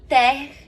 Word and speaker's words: terre: E terre é terra, chão. Então, rond de jambe à terre. Terre. Esse seria o jeito certo de falar em francês, com esse R bem puxado.